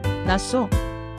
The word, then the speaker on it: 낫소: 그런데 한국 사람 귀회는 이렇게 들렸습니다. 낯소. 어, 그게 더 낫소. 그렇죠. 한국말로 낯소라고 하면 낫다. 더 좋다처럼 들립니다.